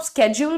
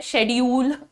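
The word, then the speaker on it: schedule: लेकिन वही है कि अभी तक जो एक्सेप्टेबल चल रहे हैं वो दो ये हैं या तो आप स्केड्यूल बोले स्केड्यूल बहुत ही ज वाला जो साउंड है इसको बहुत जेंटल रखना स्केड्यूल ठीक है और ये जो है शेड्यूल ये तो हमारा फेवरेट है वच is said शेड्यूल शेड्यूल शेड्यूल मत बोलना ठीक है मैम आप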